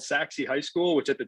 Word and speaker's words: Sachse: So I found this school called Saxe High School, which at the time I didn't even know how to pronounce the name. It's SACHSE. I'm like Sache, like Sachet.